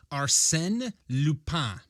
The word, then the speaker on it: Arsène Lupin: gentleman thief and detective Arsène Lupin. Arsène Lupin. Yeah, or Arsène Lupin. Arsène Lupin. That's how I'll be pronouncing it.